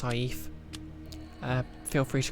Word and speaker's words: saif: Yeah, I think it's actually pronounced saif.